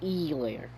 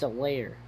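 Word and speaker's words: Helaire: not say clyde edwards e layer i know the h is silent but it's a layer a layer not e layer that should make me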